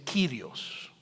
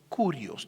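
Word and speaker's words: κύριος: hacer una pausa aquí en el griego la palabra para señor es dicen kirios kirios o otros lo pronuncian como curios también porque hay una discusión que se prcia como la xilon como una i o como una u curios kirios está bien pero en griego hay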